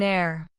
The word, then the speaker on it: heir: We use an before some words beginning with h when the h is silent. Examples. An honor. An hour. An honest man. An heir. The h is not pronounced in these words.